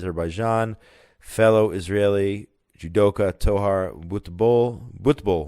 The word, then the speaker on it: judoka: some good and positive news here to Israeli judoka so that's how it's pronounced judo experts champions took home gold and